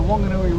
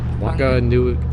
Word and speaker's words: Whanganui: The Whanganui River and 8 other rivers that feed into it.